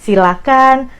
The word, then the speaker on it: silakan: kita bedah dulu Ini dari pronounciationnya jangan pakai ha itu yang paling penting Jadi silakan persilahkan jangan pakai itu dari pronounciationnya Nah kalau dari katanya